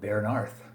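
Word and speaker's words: Bearnarth: rbi larry bernice bernarth don't show know how to pronounce that uh it looks like a b-e-a-r-n-a-r-t-8 so i'm gonna go with baron arth uh four seasons with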